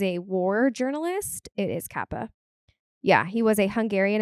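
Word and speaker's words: Capa: Kappa he was a war journalist it is Kappa yeah he was a Hungarian American war photographer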